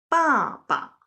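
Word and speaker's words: 爸爸: For example, the word here is 爸爸. The latter one, 爸, is pronounced very lightly.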